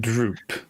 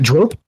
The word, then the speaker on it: Drope: called Droop. Yes, I pronunciate it Drope because it's a little bit more elegant.